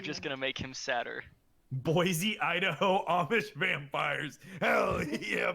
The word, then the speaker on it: Boise: pronounce that? They would. Boise. It's Boise.